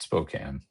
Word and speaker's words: Spokane: Uh, just Spokane.